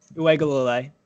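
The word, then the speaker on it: Uiagalelei: So DJ Uegalole, that's how you say it. Uegalole. I figured it out.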